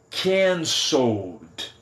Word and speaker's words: cancelled: Então, verbos que terminam com L, quando eu coloco o ED, a pronúncia é apenas de D. Então fica cancelled, cancelled. Eu vou do L direto para o D.